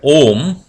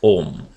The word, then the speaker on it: Om: Brahman is symbolically represented by this single syllable known as Om. As you all know, those who have studied Vedanta will surely know, it is constituent of 3 letters or the sounds A, U and Ma.